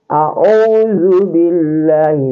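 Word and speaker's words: أعوذ بالله: Hanya saja kalau ain itu dia agak ada penekanan. Ya, jadi cara bacanya a'udzu billahi.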